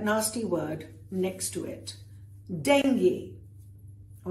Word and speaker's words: dengue: It can be dengue, it can be dengue. What it is not is dengue, even if it's spelled that way. So remember, dengue is fine, dengue is not.